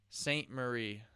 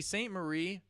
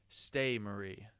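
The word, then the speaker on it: Ste-Marie: him in the absolute see Saint Marie has a e at the end of her name s-t-e-marie that's why I kept saying stay Marie so uh I'm really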